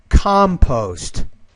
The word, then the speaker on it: compost: Yeah, that last word is, the stress is on that first syllable, compost.